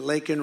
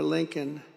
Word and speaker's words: Laken: Laken Riley, got to know her family very well.